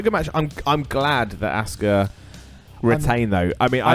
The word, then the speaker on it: Asuka: But they say it like it's Oscar, And- like it's a guy's name. And now that And- Nigel's started commentating, it's Asuka, Yeah. as in like almost saying like ask her.